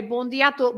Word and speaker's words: bom dia a todos: Bom dia a todos. It does tend to get eaten up, I think, in the in the saying of it, which then has the foreigners thinking the in the middle there doesn't exist.